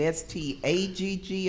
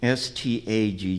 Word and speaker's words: Stagg: on the spelling of your name is it s-t-a-g-g or s t o g g s t a g g and pronounce it again for me stag stag thank